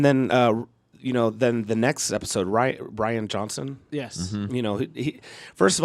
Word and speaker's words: Rian: I think it's Rian is how you pronounce it.